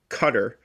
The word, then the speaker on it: Qatar: The government of Qatar, which is how it's pronounced, is...